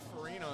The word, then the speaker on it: Farina: Farina says last name is pronounced Farina, just like the cereal.